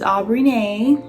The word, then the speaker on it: Aubrineé: and that's what i'm going to say on that period yeah i'm biggity back how you pronounce my name is aubrey nae so this is now